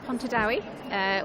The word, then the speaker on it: Pontardawe: One is in Cardiff with Lark Design Make, and the other one is Pontardawe with Sweet Williams, handmade.